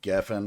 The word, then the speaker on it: Geffen: They're also under HYBE, and Geffen, I think is how you pronounce that.